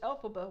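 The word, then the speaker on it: Elphaba: of tulips mhm wow the name of the wicked witch alphaba was created by taking the phonetic pronunciation of the wizard of the original Wizard of O's author El FR bomb's initials lfb which became alphaba alphaba yeah that's a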